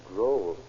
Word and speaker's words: droll: How droll. That rhymes with stroll.